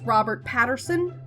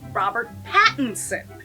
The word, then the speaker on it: Robert Pattinson: ever seen it stars robert patterson brendan price and toby harper in the english language dub now i know what you're thinking rabbit just said his name wrong it's robert pattinson now let